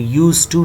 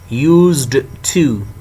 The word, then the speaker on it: used to: in your mind air d is silent it is not pronounced in all sentences you will say to use to not used to so that should be